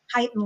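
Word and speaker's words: chitin: I think that people call it both things, but the kitan layer is what you call it. And I've heard people call it the chitten layer, too. You're the more English pronunciation of that, which is the the skeleton of the bug.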